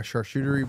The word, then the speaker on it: charcuterie: He's like, a charcuterie board and orange wine.